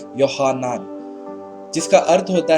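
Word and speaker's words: יוחנן: तो हिब्रू में इसका जो एक्चुअल नाम है वो है यूहन्ना, या उसे जो प्रोनाउंस करते हैं वो इस तरह से करते हैं यूहन्नान, जिसका अर्थ होता है कि यावे, यहोवा अनुग्रहकारी है।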